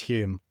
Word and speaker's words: Home: because his name is pronounced spelled Home, but pronounced Hume.